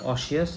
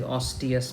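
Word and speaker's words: osseous: Okay, first thing to I uh pronounced it wrong. It is not oshious. It is oius metablasia.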